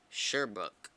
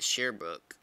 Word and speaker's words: Sherbrooke: Sherbrooke. Wow. I was almost there. I was calling it Shearbrook. Like sheer. Shear. So it's Sherbrooke then.